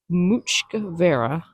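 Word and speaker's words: muc-mhara: the souvenirs for sale Apparently that is pronounced much covera and it means whale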